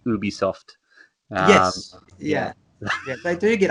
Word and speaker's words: Ubisoft: Is it Ubisoft or Ubisoft? Ubisoft. Yeah, it's Ubisoft. It's totally Ubisoft. Although it's a French company, so if I'm being really picky, it should be Ubisoft.